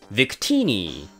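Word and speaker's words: Victini: 発音はヴィクティニです。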